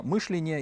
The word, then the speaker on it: мышления: он хотел сменить лошадей, он хотел убрать вот эту оголтелую риторику сталинских времен и заменить ее более либеральной риторикой нового мышления, именно с ударением на первом слоге, плюрализмом мнений и многоукладностью экономики.